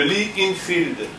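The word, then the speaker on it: Lee-Enfield: Le Lee Enfield. Alors, ça s'écrit comment?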